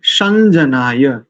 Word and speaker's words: शं जनाय: उसके बाद संजनाय, या है ना, या तो नकार की भांति उच्चारण करेंगे। संजनाय समर्वते समर्वते।